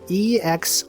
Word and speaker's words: exorcising: It's E-X-O-R-C-I-S-I-N-G. It's exorcising, but it's pronounced like exercising.